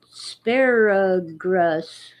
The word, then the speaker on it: asparagus: country in michigan and they pronounced it sparrow grass yeah in a thick guttural german american accent yeah well just for